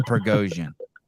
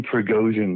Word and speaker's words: Prigozhin: But this Prigozhin thing, like stop pronouncing his name like he's Armenian. Stop saying it like it ends in IAM, please. Prigozhin. I don't appreciate that. Go on. Yevgeny Prigozhin.